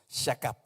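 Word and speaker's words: שכב: Así como se escribe, shakab.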